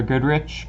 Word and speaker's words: Goodrich: If you guys would hop over to my channel, it's Goodrich. Goodrich spelled like good and then rich, so yeah, if you guys want to check that out, I would appreciate it.